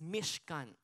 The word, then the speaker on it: Mishkan: word po pala ng, sa Hebrew po ng tabernacle is Mishkan.